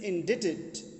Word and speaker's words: indebted: ही इज़ इंडेटेड, यहाँ पर B silent है डियर स्टूडेंट्स।